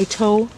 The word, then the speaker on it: Itoh: This is a tree peony, so or an Ito peony, and that's ITOH.